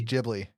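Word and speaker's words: Ghibli: usually gbly G gibly actually I was called it GI but it's jibli however you pronounce it yes they usually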